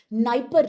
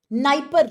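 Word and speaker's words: Dnieper: in this area called Niper River. D is silent here but Niper River.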